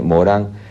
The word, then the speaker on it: Morin: Se escribe Morin, M-O-R-I-N, Morán, en 3 partes, para no caer en la charlatanería.